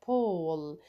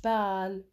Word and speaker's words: ball: He has a pole. مش بال. Pole. دايما الـ A double L لما بتنتهي الكلمة ب double L الـ A تلفظ O This ball is his